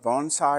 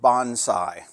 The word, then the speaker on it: bonsai: And by the way, in the US, we pronounce it bonsai. In Japan, they pronounce it bonsai.